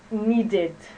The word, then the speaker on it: needed: Another word, need. Need, we're going to pronounce it needed.